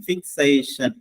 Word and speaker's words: fixation: FIXATION, ഫിക്സേഷൻ എന്നാണ് ശരിക്കും ഉച്ചാരണം.